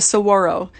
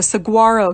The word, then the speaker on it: saguaro: you aro but I I always crack out when I hear people saying oh the stag uro cactus or the saguaro cactus it's Saguaro I believe it's a